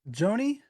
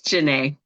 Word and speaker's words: Jana: was very helpful awesome is it Joanie or how do you say your name it's Jana hey Jan how you